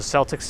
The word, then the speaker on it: Celtics: three days jv hello so celtics is the preferred pronunciation of the correct one okay got it because i know that word could be sometimes pronounced with a k sound if my shoe gets